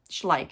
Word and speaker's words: Schleich: pay attention this is uh schleich schleich is how you say ish like um it's a